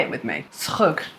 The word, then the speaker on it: Schug: Schug. It's written here for you to phonetically get it.